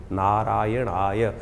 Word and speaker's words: नारायणाय: करने का प्रयास करें मंत्र का उच्चारण बिल्कुल सही होना चाहिए कई बार लोग मंत्र का जप करते करते थोड़ी सी गलती कर देते हैं नारायण नारायण नारायण नारायणाय नारायण नाराय नहीं है नारायणाय ओम नमो नारायणाय इस